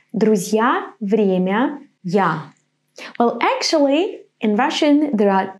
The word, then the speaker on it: я: pronounce it я я It's like The beginning of the English Word Y Now in the Word